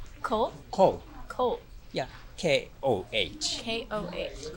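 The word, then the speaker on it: Koh: I'm Ko. Ko?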